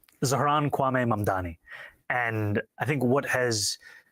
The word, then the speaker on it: Zohran Kwame Mamdani: This is how he does it. I'm running against a man named Zoran Mandami. He's a socialist. If you can respond to that and tell us how you say it, your full name. Zohran Kwame Mamdani.